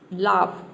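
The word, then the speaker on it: laugh: जी एच दिया है लेकिन यहां पे ए य जी एच को हम ऑ प्रोनाउंस नहीं कर रहे हैं यहां पे क्या प्रोनाउंस कर रहे हैं आ प्रोनाउंस कर रहे एओ जी एच को ऑफ लाफ या एल का हो जाएगा आपका ल और यहां पे हम फ प्रोनाउंस कर रहे ए ओ जी एच को फ लाफ लाफ मतलब होता है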